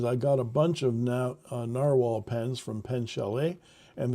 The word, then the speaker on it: Nahvalur: It's Icelandic spelling for narwhal, and it's pronounced narwhal.